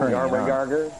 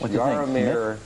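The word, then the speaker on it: Jaromír: Yeah, the main man, Yarmar. You're getting good at pronouncing that, too. No, I'm not pronouncing it right, but I'm just going to stick with it. Yarmar Yarger's not right? No, it's Yarmir.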